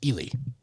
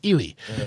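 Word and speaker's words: Ealy: So when I tell them, and it's spelled E-A-L-Y, so it's actually pronounced Ely. Okay. But it's pronounced Ely.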